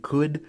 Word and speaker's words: could: And what's super weird about these L's in could, should, or would is listen to me saying them. You don't pronounce the L's.